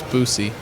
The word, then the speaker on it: Boosie: It's Boosie. It is. But the internet, the YouTube, how do you pronounce?